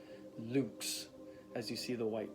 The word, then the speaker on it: LVX: they spell which is pronounced to rhyme with the word boots which is luke's so it was the